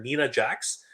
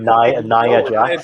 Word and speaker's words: Nia Jax: Like I called her Nina Jax. He's literally always like Nia Jax. Yeah, he's literally like, stop it, stop calling her Nina.